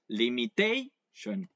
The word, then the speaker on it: limitation: and it says um if it's a noun and it has the suffix sh or it um the stress syllable is the one that comes right before this the suffix right we have um liation right so just before the sh is where you place the ation limitation can you get